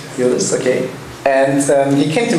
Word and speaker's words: Yıldız: And Chana did his bachelor degree in Turkey at the Yıldız Technical University, if you have pronounced it correctly. Yıldız, okay.